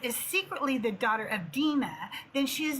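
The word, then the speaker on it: Dinah: The biblical text never says she is Dena's child. I know some of you call her Dina, okay? But the correct p pronunciation is dena.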